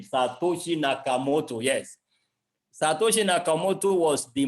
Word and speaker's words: Satoshi Nakamoto: Nakamoto, I want to be sure I'm not mispronouncing the name, Satoshi Nakamoto, yes.